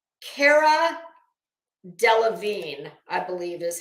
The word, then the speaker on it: Cara Delevingne: okay I can never say this girl's name Cara Delevingne I believe is how you say it I